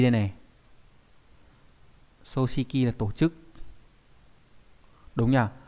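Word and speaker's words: 組織: Thì chữ tổ này trong từ tổ chức đọc là gì đây, đọc là soshiki đây này, soshiki là tổ chức đúng nhỉ, hoặc là đọc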